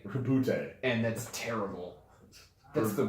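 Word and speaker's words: Roboute: It's not Roberte, unfortunately. It's Robute. Rabute.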